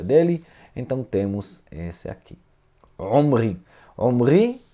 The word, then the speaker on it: Omri: Omri, já eu vou falar o nome dele na pronúncia em português. Melech Israel. Rei de Israel. Quem é esse Omri? Onri, né? Onri, em português eu acredito, eu até escrevi para mim aqui, sim, Onri, né? E isso aqui, isso muitas